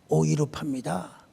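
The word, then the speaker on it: Europa: 유럽의 원래 발음은 오이로팝입니다.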